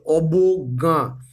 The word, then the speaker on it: অবজ্ঞা: অবজ্ঞা শব্দের সঠিক উচ্চারণ হচ্ছে অবজ্ঞা। স্বর বকর ব গ গয় জ গয় চন্দ্রবিন্দু আকার অবজ্ঞা।